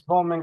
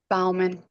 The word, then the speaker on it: Bauman: You pronounce it Bauman? Bauman.